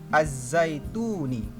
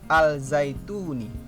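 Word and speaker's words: الزيتون: Yang kedua, Az-Zaituni, bukan Al-Zaituni.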